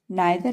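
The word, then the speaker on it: neither: नाइदर हम लोग पढ़े थे, नाइदर में से दोनों में से कोई नहीं, तो नाइदर में आई की ध्वनि दे रहा था, ई आई का उच्चारण आई की ध्वनि में दे रहा था।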